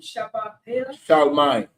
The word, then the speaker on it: Charlemagne: How you pronounce the name? Charlemagne. Charlemagne.